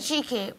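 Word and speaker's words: Achike: A-C-H-I-K-E. Pronounce it cheeky, but please just call me.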